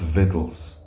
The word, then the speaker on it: victuals: Behold, victuals, the word is pronounced victuals, shall be so good, cheap upon earth, that